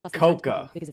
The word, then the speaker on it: coca: It's pronounced the same, spelled differently. No, coca.